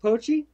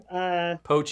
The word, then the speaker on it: Pochi: Okay, this is the Pochi. Pochi.